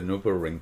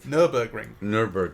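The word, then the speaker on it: Nürburgring: mention at this point that we did the NuvaRing together you drove no but I was a passenger on the NuvaRing one day you'll pronounce it correctly I know you know what is this Nurburgring Nurburgring excuse moi it's Jeff yeah no we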